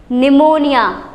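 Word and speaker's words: pneumonia: निमोनिया। Very nice, क्योंकि यहाँ पी क्या है?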